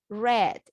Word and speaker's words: read: read last year false very good pronunciation of this word read the present i read a book today red is the pronunciation right but the writing is the same right so have you